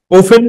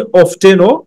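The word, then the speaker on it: often: ওফেন, এটাকে তুমি অফটেনও প্রোনাউন্সিয়েট করতে পারো।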